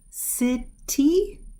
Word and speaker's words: city: live in this place city fifty or is it city city we're seeing it with the D sound when we talk in